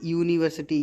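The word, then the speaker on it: university: जैसे यूनिवर्सिटी, यहाँ पर या की आवाज़ आ रही है, इस वजह से हमने ए का यूज़ किया है।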